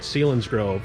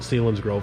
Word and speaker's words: Selinsgrove: to went to selinsgrove we were all pronouncing it wrong up here in the northeast we were calling it selinsgrove down down there at selinsgrove so i guess we can call it selinsgrove from now on yeah um what what'd